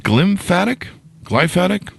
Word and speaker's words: glymphatic: She'll give us some innovative techniques to stimulate the glymphatic. Am I pronouncing that correctly there, Michelle?